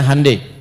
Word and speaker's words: Hyundai: bikin Honda dia bikin hundai ya ya Hyundai saya tahu bahasanya dibacanya hundai ya Apa saja Jepang masuk